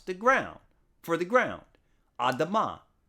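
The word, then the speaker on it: אדמה: Now, the Hebrew word being mistranslated as red is the same Hebrew letters used to pronounce the ground, for the ground, Adamah. It's just pronounced differently, Adumah here.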